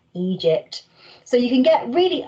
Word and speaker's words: Egypt: having these pyramids here we've got our letter name so e soft g g e e it says egypt so you can get